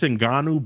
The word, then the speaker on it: Ngannou: How do you pronounce the CEO? It's Ngannou, but we'll stick with Francis so we don't trigger Brandon.